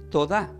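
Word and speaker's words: todá: gracia se pronuncia como tod que tiene asiento en la a t o d a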